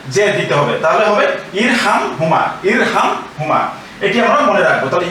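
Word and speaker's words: ارْحَمْهُمَا: কিন্তু আমরা সিঙ্গেল অর্থাৎ এককভাবে যদি উচ্চারণ করতে চাই তাহলে কিন্তু আবার এই হামজার নিচে জের দিতে হবে। এর নিচে জের ছিল, এখানে জের দিতে হবে, তাহলে হবে ইরহাম হুমা।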